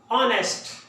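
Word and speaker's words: honest: ऑनेस्ट, यहां पे H mute है यानी एच की आवाज नहीं आएगी, अलिफ की आवाज निकालेंगे। उर्दू में जिसको अलिफ कहते हैं ना उसकी आवाज। ऑनेस्ट, ऑनेस्ट।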